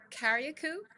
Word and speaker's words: Carriacou: Can you talk about this shift towards integrated infrastructure, like the new InterContinental conference spaces, or eco-resorts in Carriacou?